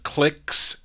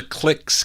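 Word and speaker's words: Klixs: here uh from october 1959 these are the clicks k l i x s on music city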